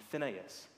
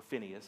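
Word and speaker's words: Phinehas: two sons hne and Finas or Phineas however you would like to pronounce it these two sons had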